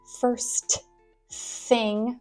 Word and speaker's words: first thing: thing Monday first thing the St does not have to be very well pronounced first thing right we can kind of Squish all of those sounds together first thing first thing it's basically the drop the tea rule drop the T at